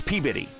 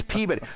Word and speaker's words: Peabody: in in Massachusetts and it's spelled Peabody but when you talk to them it's peab bitty now how they get bitty out of body I have no clue but it's PAB bitty so and then there's